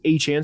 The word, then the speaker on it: Etienne: If you are not aware, if you are not on Twitter, Travis Etienne, he corrected everybody. His name is pronounced Travis Achan.